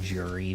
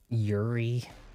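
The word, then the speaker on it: Juri: People will pronounce her name Jury, but come on, isn't it really Yuri? Now, aren't we kind of maybe thinking more of that YJ sound?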